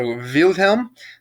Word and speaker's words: Wilhelm: ii yes in germany in Deutschland you pronounce W with a V so revealed him the second of Germany gave